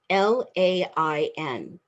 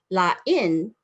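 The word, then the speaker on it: lain: They're spelled the same, L-A-I-N. The accent is different, so you pronounce them differently. La-in means different. When you're experiencing something new and it's different. La-in is something that's bad.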